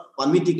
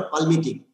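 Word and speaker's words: palmitic: ऐसे ही ये 16 carbon most commonly abundant this fatty acid जो है ना that is called पामिटिक acid, not पाल्मिटिक. ये एल साइलेंट पामिटिक एसिड बोलता है.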